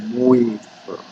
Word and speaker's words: Moivre: Nah, ini dikenal dengan istilah atau formula dari De Moivre ya. Ini bacanya ini orang Prancis bukan De Moivre ya, saya juga foreign tapi bacanya foreign, padahal dia membacanya apa?